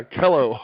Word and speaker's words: Kellough: about right that's right it rhymes with hello yeah kello okay see i kind